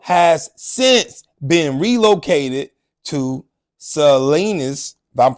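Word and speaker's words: Salinas: the kicker Carol has since been relocated to sanus if I'm pronouncing that correctly excuse me if I'm not sanus s a l i n a s Valley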